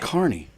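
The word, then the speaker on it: Kearny: I I I there's an an E omitted in New Jersey. It's Carney with It's K E A R N Y. And people all say Carney, New Jersey.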